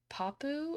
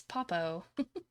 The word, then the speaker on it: Popo: I also realized I was saying her name wrong earlier. I think I was saying Papu or something. It's Popo.